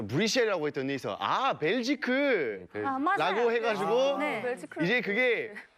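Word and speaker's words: Belgique: 그래서 수도가 어디냐라고 물어봐가지고 저 브뤼셀이라고 했더니 벨지크 라고 해가지고 이제 그게 이제 불어 발음으로 벨기에라고 말하면 벨지크고 네덜란드로 하면 벨기에인 건데 그래서 이제 한국에서는 남한에서는 이제 벨기에라고.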